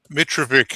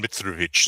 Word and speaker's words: Mitrovic: Is it Mitravik? Is that correct? Mitravic is the anglicized version. Mitravich is the ethnic version, but the Australians didn't know how to pronounce it.